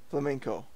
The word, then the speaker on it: flamenco: purpose well banco flamenco flamenco yes okay okay it's like flamingo with n co inc oh alright so